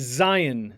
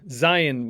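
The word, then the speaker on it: zayin: the sounds next is zion zion which makes a z sound like in zebra then we have which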